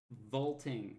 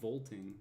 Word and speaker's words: vaulting: usually keeps is here vaulting not bolting did I say I've been pronouncing things weird for a minute guys you have to apologize I like vaulting pirates volting part it's it's like voting pirates yeah they're getting there